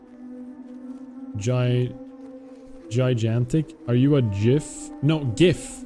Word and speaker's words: GIF: No, I say gif. Okay, if we can agree on one thing is that the English language is not consistent when it uses different letters to pronounce different sounds. It just isn't. So, GIF is still GIF. I don't say jigantic.